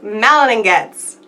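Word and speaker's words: Malin+Goetz: melan don't melan get okay so I'm not alone clearly melanin gets is how it's pronounced and this retails for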